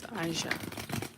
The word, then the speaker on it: Aisha: I just heard that you're not pronouncing it right it's Aisha all right so for